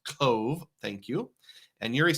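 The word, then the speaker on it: Cobh: Uh, Re says, "The town is not pronounced Coba. It's pronounced Cove."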